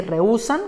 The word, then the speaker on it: rehúsan: la fuerte siempre gana solamente si le damos la tilde a la vocal débil se rompe entonces dice rehúsan y queremos decir rehúsan entonces en esa misma sílaba hacemos la transformación hacemos el traslado de la tilde a la uv y ahora si dice rehúsan con una sílaba una tercera sílaba que ha aparecido pero no así en